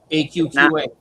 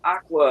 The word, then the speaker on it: AQQA: And from what I've been told, that's exactly how you pronounce their name. AQQA. Yep. It's not Aqua or whatever. You know, some people I've heard say, "Oh, it's Aqua." Or it's like, no.